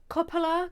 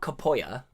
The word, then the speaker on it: Coppola: that seems right yeah coppola coca-cola coppola coppola coppola coppola coppola capola coppola i mean it's not spanish it's not kapoya that's what i'm saying is italian yeah well no one knows